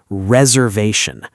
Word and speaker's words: reservation: Let's break down that big word reservation. Let's do it by syllables.